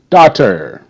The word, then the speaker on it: daughter: it new moving on daughter d a do daughter GH is silent so that's d a d and then T tur now you remember uh